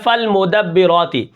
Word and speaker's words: فالمدبرات: کس طرح پڑھیں گے، فا لام زبر فل، میم پیش مو، فالمو، دال با زبر دب، با زیر بی، فالمدبر، را کھڑا زبر را، فالمدبرا، تا